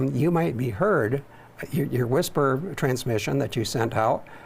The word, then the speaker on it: WSPR: It's WSPR is pronounced whisper.